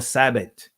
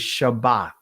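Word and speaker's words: שבת: The Greek pronunciation of Shabbat is Sabbath, or some would say Sabbat, right? Or Sabbath. Right? Nah, family, that's Greek. The ancient pronunciation is Shabbat, right?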